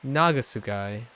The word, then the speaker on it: Nagasugai: syllable like for example like you could say this is this like city is nagasugai but it's nagasugai like nah Goss guy so it's on the first syllable so when you get